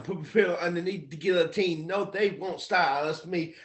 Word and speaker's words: guillotine: And that word is pronounced guillotine, by the way, just so you know. Guillotine, like it's French for chopping off your head.